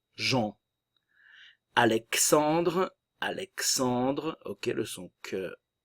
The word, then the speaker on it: Jean: Jean. Nous avons ici la nasale. Le A nasal en. Jean.